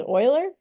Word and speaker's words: Euler: a different way um the way you say this guy's name is Oiler so maybe it's a